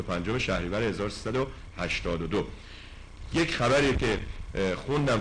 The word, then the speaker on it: شهریور: داشت و روز ۲۵ شهریور اشیش وانگ خوانده میشد که روز رحمت خدا اخلاقیات و معنویات و روان پاک بود ماه شهریور یا شهرور تلفظ میشد ماه شهرور یا شهریور